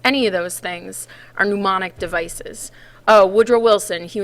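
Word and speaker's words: mnemonic: how you pronounce that pneumonic the m is silent and um it's any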